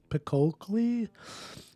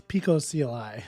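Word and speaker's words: picocli: Pico I I was like why can't I pronounce this I was calling I was trying to call it like pickokly it's Pico CLI Dan somebody called me out on that so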